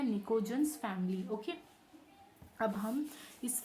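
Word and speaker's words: pnictogens: पी यहाँ पर क्या होगा? साइलेंट होगा। चाहे तो आप इसे नोट डाउन कर लें, इसे हम कहते हैं निकोजेंस फैमिली।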